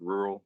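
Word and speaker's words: RURL: sponsorship with a brand rural around the area r-u-r-l it's pronounced rural but without the a and uh they have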